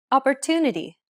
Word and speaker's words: opportunity: Opportunity. Opportunity. The stressed syllable to in opportunity is pronounced longer than all the other syllables.